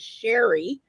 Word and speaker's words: Sherry: pronounce it correctly and she said Sherry like the the drink like the the liquor so um [ __